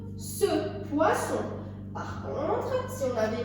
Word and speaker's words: poisson: Regardez, les deux S sont entre un I et un O. On les prononce ce poisson.